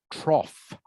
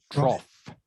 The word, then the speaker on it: trough: Okay, this one here is pronounced one of these silly English words that is pronounced different to what it is spelled. It's pronounced trough. Trough.